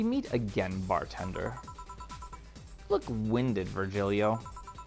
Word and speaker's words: Virgilio: until now we meet again bartender look winded virgilio pronounced virgirio no I'm pretty sure it's virgilio you said as much the last time you